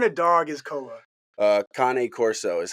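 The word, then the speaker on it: Cane Corso: Uh, Kane Corso is how they're pronounced.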